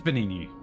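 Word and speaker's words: Venigni: Oh, so it is Benigni. Okay. See, I assumed that that is what it would be pronounced, but I'm like, I don't want to offend any.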